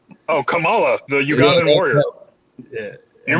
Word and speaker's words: Kamala: __ ] it's spelled it's spelled the same and everything kamala but she says it come kamala camila kamala camille we